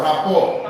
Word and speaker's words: rapport: Rapport. The P is silent.